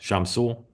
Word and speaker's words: Shamsul: Is it Shamsul? How's that? Shamsul, close enough. You got it.